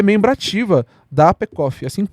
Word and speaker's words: APECOF: forças de segurança e é membro ativa da APECOF. Assim que pronuncia? Correto. É isso aí, APECOF, e foi reconhecida pela Darius como a Top 9 no Top 21 to Follow em 2025.